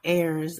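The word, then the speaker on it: heirs: the hairs the h the H is silent oh yeah airs okay ears yes that's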